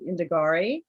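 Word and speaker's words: Indagare: how you say this indigeir is it indigenous you can it's a dead latin word so you can say it however you like we tend to use the more italian pronunciation which is indigari i'm going with that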